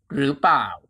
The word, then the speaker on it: เปล่า: Next is เปล่า เปล่า Is original reading form comes from หรือ เปล่า หรือ เปล่า หรือ เปล่า Over time Thai speaker scheduly chen the pronunciation หรือ เปล่า to หรือ เปล่า to เปล่า and today many people shutden it even further to ป่ะ ป่ะ this word is